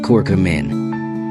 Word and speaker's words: curcumin: the health benefits we hear about, is called curcumin, pronounced curcumin.